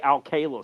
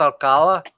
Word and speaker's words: Alcala: Oh, Ren's all about only at the Al-Qaeda stuff, Joe. Al-Qaeda? Yeah. There's a reason he said it. There's a reason Tyler said it. Wait, isn't his name pronounced Alcala? Yes, he's doing it on